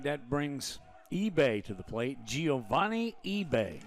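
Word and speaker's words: Ibe: Again, it's spelled I-B-E, pronounced eBay.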